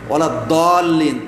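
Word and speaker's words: وَلَا الضَّالِّينَ: যেমন ওলা দলিন, এখানে দদ পড়তে হবে, ওলা দলিন দা পড়া যাবে না, বা যা পড়া যাবে না, বা জিম পড়া যাবে না।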